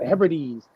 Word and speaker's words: Hebrides: Hebrides? Hebrides? Yeah. The Hebrides.